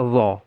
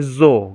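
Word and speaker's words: ظ: Dha itu ujung lidah sama dengan sa tadi ditempelkan, ujung lidah ditempelkan ke gigi seri bagian atas. Jadi, tapi kebanyakan orang para pembaca Al-Quran membacanya sebagai zo gitu, zo. Padahal bukan seperti itu cara pengucapannya, tapi sama dengan sa dia.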